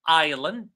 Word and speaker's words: island: Word number three, island. The S is silent.